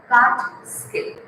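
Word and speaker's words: Kaatskill: K-A-A-T-S-K-I-L-L, and the pronunciation is given in the bracket. Catskill.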